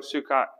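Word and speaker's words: Succoth: he went to suco s-u-k-k-o-t-h or s-u-c-c-o-t-h is pronounced suko sukat and that location according to scholars is right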